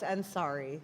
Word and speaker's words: Ansari: Let me check the pronunciation. Ansari? Close, Ansari. Ansari, okay.